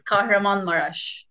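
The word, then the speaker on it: Kahramanmaraş: It's Kahramanmaras. Perfect pronunciation.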